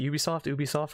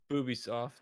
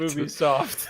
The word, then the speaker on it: Ubisoft: Gonna be Ubisoft, or how do you even pronounce it? Ubisoft. What do you guys say? Boobisoft. Okay. Perfect. Ubisoft.